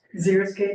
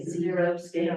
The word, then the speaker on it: xeriscape: Xeriscape, zeros. Yes, they say zero scape, they say Zero.